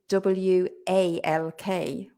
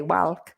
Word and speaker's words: walk: also get wrong, and they try to say walk, but it's not walk. It's walk with an, it sounds like an O, it's written with an A, right? So walk.